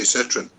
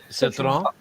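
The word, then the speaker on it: Citroën: Nice pronunciations of it. Yeah. Peugeot. I like the Citroen. How many ways would you say Citroen? Citroen.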